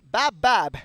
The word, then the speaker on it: BABBAB: BABBAB.